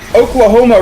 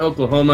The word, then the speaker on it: Oklahoma: Oklahoma rhymes with melanoma.